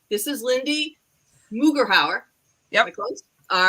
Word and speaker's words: Lindsey Mugeraur: I'm going to pronounce her name right. This is Lindsey Mugeraur.